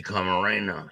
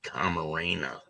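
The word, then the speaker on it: Camarena: to prosecutors the here's a picture of Kiki k Marena she said the name wrong but it's Kiki Karena and this is the DEA agent that was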